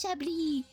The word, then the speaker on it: Chablis: I was like, her name is Chablis. And then whenever I go to the vets, because her name is French, right? The S is not supposed to be pronounced.